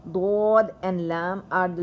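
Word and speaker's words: ض: when you feel like, when you pronounce these letters dod, dod, you will feel our two edges of the tongue expands and it touches the upper jaw, the both jaws of our mouth.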